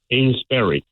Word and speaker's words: Amesbury: Amesbury. Amesbury. Okay, like a berry. But it's spelled like you bury a body. Right, but it's pronounced berry.